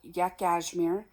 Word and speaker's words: Yakashmere: um so the brand of yarn is called yak asmir and I'm going to spell it to you cuz I could be saying